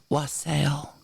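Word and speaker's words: Walsall: It's pronounced wassail.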